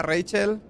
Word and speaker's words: Rachael: hacer putadas romper armas que rachael se pronuncia Rachel Y eso que en español le dicen así bueno Total que se